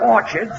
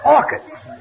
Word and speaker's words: orchids: It's not orchards, it's orchids. The ch is pronounced like K.